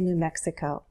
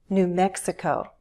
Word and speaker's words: New Mexico: For example, all the states with new have stress on the syllable that immediately follows. New Hampshire, New York, New Jersey, New Mexico.